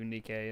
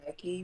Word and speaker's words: Nike': the name right because a lot of people want to call me Nike because of the way that is spelled so originally that's the